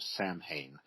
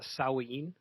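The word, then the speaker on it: Samhain: So Halloween most people associate it with the Celtic festival of Sam Hayne. I'm not sure if I'm pronouncing that correctly. I'm not Gaelic. I don't speak Kelt, but uh that's probably close enough. So that's what I've always heard. corrected on that. This is this is amazing. So Oh, we were Yes, it's it's actually called uh sawin. Oh, pronounced pronounced like that. So yeah, we got corrected on that last year.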